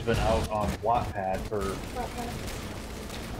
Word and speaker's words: Wattpad: Wattpad. I'm saying Watt, you need it's to wet. Stop. But it's spelled like gigawatt.